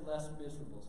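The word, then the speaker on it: Les Misérables: If you're American, you can pronounce it Les Miserables, okay? So if you're American, that's just how you say it, Les Miserables.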